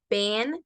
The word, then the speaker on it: been: después de por favor el Ben se pronuncia como una sola e How you pueden repetirlo